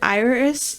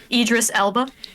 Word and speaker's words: Idris Elba: those are yucky the picture of is it Iris Iris irdis how do you say his name Idris Elba the picture I saw of Idris Elba and